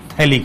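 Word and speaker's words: phthalic: 1,2 वाले का common name है थैलिक acid, थैलिक acid, pH silent है इसमें।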